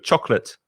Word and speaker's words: chocolate: two syllables very good most spanish speakers have three syllable pronunciation with chocolate no it's only two chocolate chocolate yeah the problem